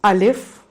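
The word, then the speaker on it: الف: That are, the first letter is Alif, A, L, I, F, Alif.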